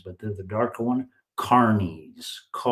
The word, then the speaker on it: Carniolans: Carniolans. That's how it's pronounced correctly.